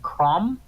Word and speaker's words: Crom: It's actually me messing up the pronunciation of Crom, who is the god of Conan the Barbarian.